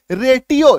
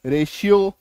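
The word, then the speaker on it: ratio: टी के बाद आई ओ। ठीक है? तो इसका उच्चारण क्या हो रहा है? रेशियो। है ना? तो टी का उच्चारण तालव्यस। यहां पे इसको टी नहीं बोलना। ट नहीं बोलना। इसको रेटियो है ना? कई लोग इसको कंफ्यूज करते हैं। गलत उच्चारण करते हैं। रेटियो नहीं रेशियो।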